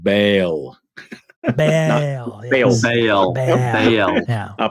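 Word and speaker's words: Bael: Or you say Dale or Bale? Bale. Bale. He spells it out B-A-E-L.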